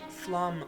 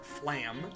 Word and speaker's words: Flum: And just in case you want to know, yes, that is Flum, not Flam, as I have heard many people pronounce it.